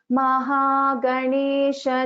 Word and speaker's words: Mahaganesha: So first line Bhagini, just listen to this gha pronunciation. It is Mahaprana. Mahaganesha Nirbhinna Vigna Yantra Praharshita.